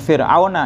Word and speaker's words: Fir'auna: Bacanya Fir'auna ya. Karena itu Fir'aun itu termasuk apa? Ismul ladzi la yansorib, isim yang tidak pernah terima tanwin.